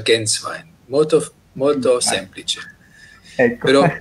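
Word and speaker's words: Gänswein: Di origine, lei ha detto, il mio cognome è molto difficile, non è italiano, si pronuncia Genswein.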